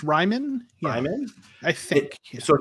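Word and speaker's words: Raimann: Is that how you pronounce his name? I think it's Ryman.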